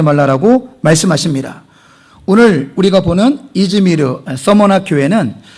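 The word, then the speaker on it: İzmir: 자, 지금의 현재 지명은 이즈미르. 자, 그러면 이 관계가 뭐냐면은 자, 원래 헬라어의 원 지명은 스밀르나 이렇게 발음돼요. 돼요. 스밀르나. 헬라어로 스밀르나. 자, 그 스밀르나 영어로 스미르나. 자, 그리고 이것을 터키식 발음으로 이즈미르예요.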